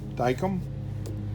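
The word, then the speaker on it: Dykem: some of you guys dicum is it it's spelled d-y Kem daikum and you get it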